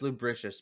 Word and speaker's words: lubricious: Lubricus. Like, nobody could touch him. Nobody could bring him down. He was so slippery. Licentious. Licentious. It's pronounced lubricious, by the way.